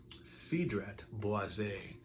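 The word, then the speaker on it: Cedrat Boisé: because of the video title but it is sidret boisei and this time actually pronounced it correctly so if you saw the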